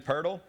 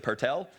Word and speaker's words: Pirtle: his name has been Pirtle or if you're Australian you apparently pronounce at per tell that's how the guy from Australia was pronouncing it but so he got